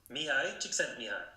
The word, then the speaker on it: Mihaly Csikszentmihalyi: Mihaly Csikszentmihalyi, que para todas aquellas personas que nos están escuchando, en verdad se pronuncia así. Mihai Csikszentmihalyi.